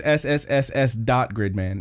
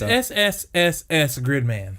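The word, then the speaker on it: SSSS.Gridman: Now, do you need to pronounce the dot in there? No.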